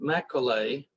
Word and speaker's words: Macaulay: Macaulay.